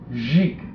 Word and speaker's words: Dzik: And part of the fun I had with this one is the guy's name is Richard Dzik. D-Z-I-K. It is pronounced in Polish nothing like it's spelled.